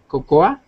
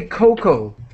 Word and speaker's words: cocoa: Okay, and just we say cocoa. cocoa. So we do not, in English, we do not pronounce the A.